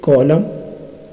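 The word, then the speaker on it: column: एम एन, एम एन में N silent रहता है, जैसे कॉलम, आटम, डैम।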